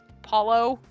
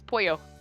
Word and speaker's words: pollo: Paulo? No, it's Pollo.